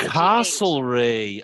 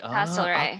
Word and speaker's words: Castlereagh: It's spelled Castle and then R-E-A-G-H. Castlereagh. Castlereagh.